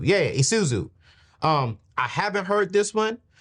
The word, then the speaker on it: Isuzu: Isuzu. Yeah, Isuzu.